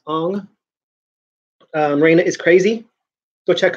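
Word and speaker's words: Huang: Go see Raina Hong, Haung, but I think it's pronounced Ong.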